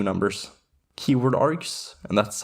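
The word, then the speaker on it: kwargs: Keyword args, and that's how it's pronounced by the way, the KW stands for keyword, works very similarly to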